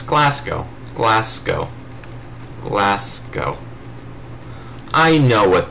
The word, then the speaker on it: Glasgow: and let's see, we could just go for Gascow. I can't even begin to pronounce these names. Let's see, Glasgow? It's Glasgow.